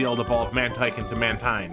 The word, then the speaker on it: Mantine: I usually want to say Mantine, but Mantine is a combination of the words. Oh, 1 second. But Mantine is actually a combination of the words marine and brine. So Mantine.